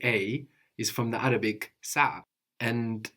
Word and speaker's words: saa: plural is also s so we have s a a and the accent on the first a s so we have